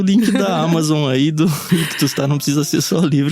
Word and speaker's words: Ichthus: Ictus se escreve ICHTHUS.